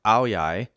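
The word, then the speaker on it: áo dài: them the Vietnamese aoyai romanized as a o d a i but pronounced aoyai is a very much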